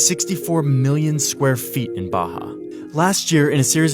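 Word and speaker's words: Barra: Out here in the west is a place called Baja. R's are pronounced like H in Portuguese.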